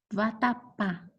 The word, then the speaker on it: vatapá: Vatapá é a última sílaba mais forte.